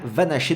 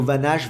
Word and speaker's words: Van Assche: l'ATP j'ai écouté et au niveau de la prononciation c'est bien Lucas vanacher donc c'est pourquoi je l'utilise dans cette vidéo pour ceux qui se demandent qui disent on dit plutôt vannage va nacher je t'invite à faire